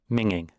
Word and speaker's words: minging: And this is how you would pronounce it. Minging.